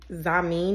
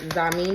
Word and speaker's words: Xiamen: Today is letter X for I think you pronounce it zamin noodles.